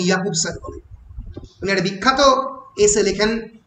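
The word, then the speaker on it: Jakobson: Roman ইয়াকুবসান, রাশিয়ানে যে উচ্চারণ হয় না ওই জন্য ইয়াকুবসান বলে।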